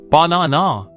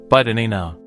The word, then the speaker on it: banana: If you are syllable timed, you say banana. 3 clear sounds. A native speaker says banana. The first and last have become lazy schwas. Only the middle na is clear.